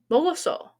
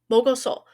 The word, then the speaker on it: 먹었어: 먹었어. 먹었어. We have an extra syllable from when we had the casual, didn't we? Okay, os. We wedged os between the mok and the adhesive vowel. Mogoso.